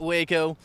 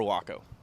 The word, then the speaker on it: WACO: at the wacko kitchen the main specialty is the waco taco and of course it had to be named the waco taco just so people start pronouncing our name correctly we are not waco we are waco and you heard it